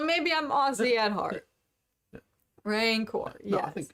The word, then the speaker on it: rancor: raincore yeah i think i think if you were if you were to read it if you were a spelling bee you would say rancor you're saying it like you're a cowboy hey you wanker don't